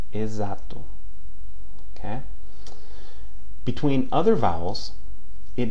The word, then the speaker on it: exato: Now, the prefix EX, okay? The prefix EX before a vowel is pronounced as the Z, okay? Exame, exato. Exame, exato.